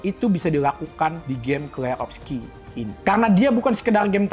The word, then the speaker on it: Clair Obscur: Klerovski, dibacanya Klerovski.